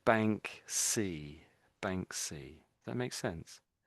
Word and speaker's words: Banksy: And it it's the word bank and then it's we sort of say C on the end. So we're saying bank C. Bank. That makes sense. Banksy, that's his name.